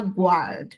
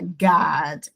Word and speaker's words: guard: to god esse esse u aqui ele é silenci Você não pronuncia, você não fala guard, você fala god the way to the tree of life.